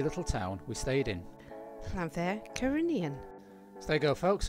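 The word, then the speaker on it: Llanfair Caereinion: and Dawn will now tell you how to pronounce the lovely little town we stayed in. Llanfair Cyrenian.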